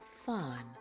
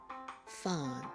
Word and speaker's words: fawn: Then we have fawn. Fawn. Remember the AU makes the ah sound.